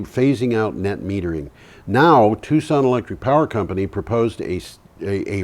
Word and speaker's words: Tucson: This is a rooftop in Tucson. In Tucson, that's right. Very few people pronounce that name correctly. They always say Tucson.